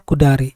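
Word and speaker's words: 下り: Jadi cara bacanya kudari.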